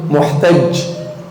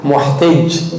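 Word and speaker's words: محتاج: Muhtaj. Esse é o correto de falar. Tem pessoas que pronunciam o que? Muhtaj. Isso não tem na língua árabe.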